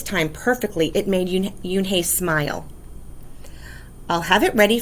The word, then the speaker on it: Unhei: she nodded slowly yes it's pronounced yoon hey and it means grace mr kim added yoon hai sorry joey said slowly and this time perfectly it made you yoon hey smile i'll have it